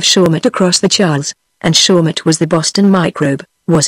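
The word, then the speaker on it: Shawmut: across the Charles and shaut was the Boston microbe was it asked Johnson yes said Emerson spelled with a p I suppose said Shakespeare p h a w sh m u t m shaut soall because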